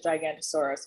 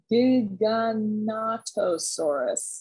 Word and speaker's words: Giganotosaurus: I'm pretty sure people pronounce it as Gigantosaurus, but it's Giganotosaurus.